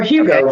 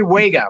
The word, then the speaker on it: Huega: Or Hugo, for those of us who don't know how to say it. People have heard it as Hugo. Jimmy Huega, Huega, right.